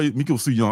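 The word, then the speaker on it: Mico Suayan: Suyong is how Miko Suyong. Okay. I was messing his name up for so long. It's like DK Ruan. I've been mispronouncing his name for God knows how long. And Miko Suyong.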